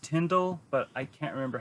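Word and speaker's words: Tyndale: Like, I know it's pronounced Tyndall, but I can't remember how it's actually spelled.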